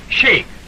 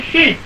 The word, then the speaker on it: sheik: I'd have bet I'd have got my share of those sheiks before they'd have got me. Pardon me, dear fellow, but in Arabic they pronounce it sheik, not sheik.